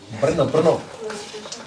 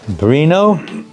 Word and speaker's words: Brno: Brno. Bruno? Bruno? Bruno? That's how Lokanath Maharaj pronounces it. Bruno. He always says Bruno.